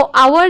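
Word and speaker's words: hour: था तो बच्चों को पहले वाला जो आवर है वह से बना है लेकिन उसमें साइलेंट है तो आवर जो है वो घंटों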